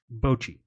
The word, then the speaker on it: Bochy: Bochy. So when I say Bochy, it just comes out Bochy.